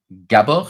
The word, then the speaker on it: Gábor: hello everyone and hello with me I have gab is that how I should pronounce your name yes yes that's uh you